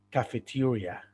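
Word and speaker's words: cafeteria: casi no en inglés se escribe cafetería pero se pronuncia cafetería cafetería y se deletrea sí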